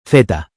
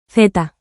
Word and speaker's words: zeta: In Spanish the letter Z is called Zeta. Theta. There are regional differences in how Z is pronounced. In most of Spain, Z sounds like the English th in think.